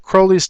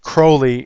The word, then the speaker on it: Crowley: card this is Alistar Crowley's tarot card and you see uh uh he wanted his name actually pronounced Crowley instead of Crowley because he wanted to rhyme with holy and I don't want